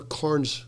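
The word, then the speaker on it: Carne: Is it pronounced Carn or Carns Club in Ireland? Is it Carn or Carns?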